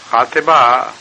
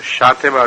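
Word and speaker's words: Xàtiva: خاطبہ کا ایک تلفظ شاطبہ بھی ہے اور یہ معین طور پر نہیں کہا جا سکتا کہ کون سا تلفظ درست ہے.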